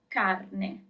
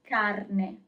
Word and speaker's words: carne: Meat is carne, carne. So you always pronounce all the letters.